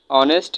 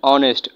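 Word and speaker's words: honest: দেখেন এখানে কিন্তু এইচ এর উচ্চারণ হয়নি। অনেস্ট অ।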